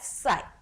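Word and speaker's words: χ: सो ये जो सिंबल है इसको हम लोग प्रोनाउंस करते हैं एज साई. Okay, most of the student will pronounce it एट एक्स. ये सिंबल इस एक्स की तरह दिखता है लेकिन ये इस तरीके का है नहीं, एक्चुअली इस तरीके का सिंबल है, like this symbol resembles. Okay, सो हम लोग इसको इसको किस तरीके से प्रोनाउंस करेंगे, साई.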